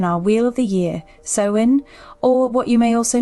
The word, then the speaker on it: Samhain: Firstly, it's generally pronounced as Samhain rather than Samhain as you may call it, as the name